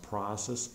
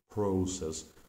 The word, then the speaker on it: process: might be different like process this word is pronounced process in American English but in British and in by some Canadian speakers it can be pronounced as prose as so giving your student more options and more